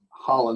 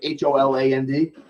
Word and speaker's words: Haaland: Erling Haaland. Holland, like Holand. Right.